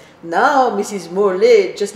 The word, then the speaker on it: Morlet: Donc pour ceux qui nous regardent, j'aimerais vous dire que Morlet, c'est comme Chevrolet, ça s'écrit avec ET.